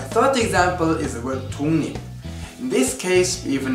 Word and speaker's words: 독립: According to what we've learned, 독립 should be pronounced as 독립, right? Now, when the ending consonant is 기역, which is then followed by 리을, that 기역 becomes 이응. 독립.